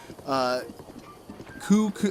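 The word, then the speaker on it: Cucco: in the Hyrule Warriors Direct that the correct pronunciation is Kuko, I believe Kuko, I believe. Kuko is the way. I'll go ahead and have it play on the screen right now. Let's start with the Kuko.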